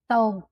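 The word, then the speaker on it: သုံး: "Thoun".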